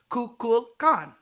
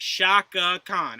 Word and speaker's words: Kukulkan: Oh, I found the pronunciation guide for it. It's just Kukulkan.